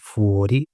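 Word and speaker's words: fuori: अगर बाहर है आउटसाइड है तो उसको हम बोलेंगे फुओरी।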